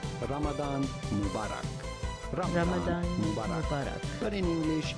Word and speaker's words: Ramadan Mubarak: or blessed Ramadan in Arabic this would be pronounced something like Ramadan Mubarak Ramadan Ramadan but in English it is generally said Ramadan Mubarak he really put like the the the American